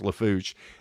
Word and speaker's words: Lafourche: See, I almost butchered it. Lafourche. It's Lafourche.